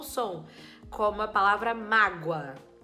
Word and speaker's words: mágoa: me causou muita mágoa esse mágoa é escrito com o mas o som é de U mágoa você me causou mágoa certo então a primeira sílaba é o ma e o a é a vogal tudo bem o a é sempre vogal inclusive e na segunda sílaba esse o e esse a Na verdade o a que é sempre vogal é a vogal e o o que tem som de u é a semivogal certo